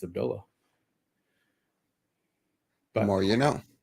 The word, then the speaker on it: Abdullah: Yeah, his name isn't Abdullah. That's not how you say his name. His name is Abdullah. Because there's an H at the end. Abdullah has the A.